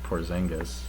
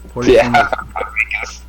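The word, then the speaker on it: Porziņģis: But I'm certainly happy with Porzingis.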